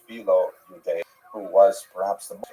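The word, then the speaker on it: Philo: And it was received very positively by the ancient Jewish community in Egypt, particularly by pronounced fileo, who was perhaps the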